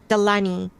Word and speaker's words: Delaney: Well, Ethel said without a trace, but more child had been found, the nameless Miss Delaney. I think I've been pronouncing that incorrectly. Delaney. Yeah, Delaney.